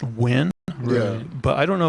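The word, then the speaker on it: Nguyen: like there's the n-g-u-y-e-n which is pronounced win yeah but i don't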